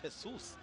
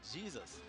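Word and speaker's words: Jesús: He's pronounced Jesus. And in the English-speaking countries, that would be Jesus.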